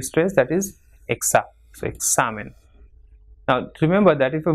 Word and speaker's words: examen: Same, following the same rule, it is comida and examen. So it has got 2 syllables, examen. So the second last will be stressed, that is exa. So examen.